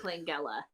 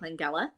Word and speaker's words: Langella: So number 10, I have the version of Dracula from 1979, starring Frank Langella.